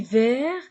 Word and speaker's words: vert: e à la fin je lis vert et je ne prononce pas le T au féminin verte attention